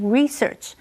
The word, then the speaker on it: research: William 是假设房价会上涨而做了这个投资。最后我们看的是 research 这个名词，research 是指研究、调查或者是探索。注意，当它是名词的时候，重音是在第一个音节念成 research，而且它是一个不可数名词。例如，After much painstaking research, the team finally